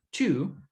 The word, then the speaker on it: two: El número 2, two, es como si nosotros tuviéramos una IU, pero la T la pronunciamos como si nosotros liberáramos aire. Por eso suena como, en vez de decir tiu, suena chiu. Como si nosotros, pum, escupiéramos, chiu.